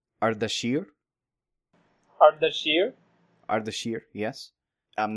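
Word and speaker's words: اردشیر: But so in modern Persian, Artaxerxes is pronounced Ardashir.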